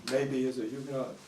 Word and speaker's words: Mabee: can you state your name and spell it for the camera my name is maybe and it's it's strange difficult to spell